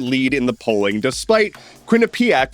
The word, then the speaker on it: Quinnipiac: And despite Zoron Mani having a double-digit lead in the polling, despite Quinnipiac, which by the way apparently is pronounced Quinnipic, despite Quinnipic putting out